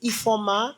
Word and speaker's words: Ifeoma: So it's I F E O M A, but the I is like silent. I'm not sure why it exists, but it's it's pronounced E F O M A.